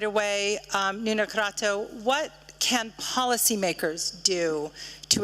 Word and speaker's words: Crato: I have to say that your Portuguese pronunciation of my name is impeccable.